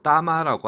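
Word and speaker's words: 大妈: 큰 대자에 어머니 맞자를 써서 중국 발음으로 따마라고 하나 봅니다.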